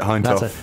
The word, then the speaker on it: Hindhaugh: more months now, a few more weeks, Hindhaugh. Is that how you say it? It's deceptively spelt. That's it, Hindhaugh.